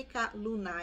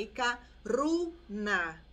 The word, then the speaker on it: Ikaruna: Pode ser que em algum lugar, algum vídeo, algum áudio, vocês encontrem também Ikaluna, Lu de lua, tá? Só que essa pronúncia não é a pronúncia correta. É porque os japoneses, eles têm dificuldade de falar a letra R. Por isso, vocês vão encontrar alguns falando Ikaluna, mas não é Ikaluna, é Ikaruna, ok?